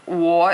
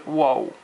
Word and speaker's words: 我: But when you say whoa, you start with an u, o, u. But when you say 我, you don't end with an u. It's u, o, and then no u. So 我, 不是 whoa.